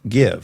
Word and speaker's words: GXVE: makeup first of all tell me how to pronounce it because again we already went over this gxve give yeah okay great give but let the listener know give is spelled g x v e yeah that's